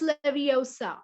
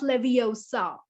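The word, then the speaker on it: Wingardium Leviosa: eyes out and besides you're saying it wrong it's leviosa not leviosa that's it nice that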